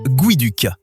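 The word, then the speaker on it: geoduck: Avant tout, ça se prononce guiduk et contrairement à ce qu'on pourrait croire, cette créature étrange n'a absolument aucun lien avec un canard.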